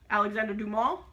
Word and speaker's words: Alexandre Dumas: Okay, so Count of Monte Cristo, Alexandre Dumas, which is the correct French pronunciation.